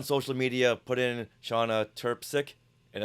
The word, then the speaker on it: Trpcic: so go on social media put in shaa turpi and it's spelled TR RP c i c and you'll